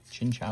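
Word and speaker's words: Chinchou: Chincha is how you say that.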